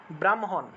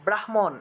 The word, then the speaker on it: ব্রাহ্মণ: টা পরে ব্যবহৃত হয় কিন্তু উচ্চারণের ক্ষেত্রে আমাদেরকে স্পর্শবর্ণটাকে আগে উচ্চারণ করতে হবে তাহলে উচ্চারণ হবে ব্রাহ্মণ তারপরে ব্রাহ্মা এইভাবে উচ্চারণটা হবে অনেক জায়গায় দেখবেন যে ব্রহ্মা ব্রাহ্মণ এভাবে উচ্চারণ করে কিন্তু হ টা তো আগে উচ্চারণ করলে হবে না কারণ হ স্পর্শবর্ণ নয় এটা কিন্তু একটা ব্যাকরণের